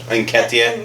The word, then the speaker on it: Nketiah: Nketiah. Nketiah, he's 5'9". He should not be guarding 6'2" Harry Kane when he's amazing in the box. Yeah, you have a 5'9" striker in Nketiah who isn't really that good in the air,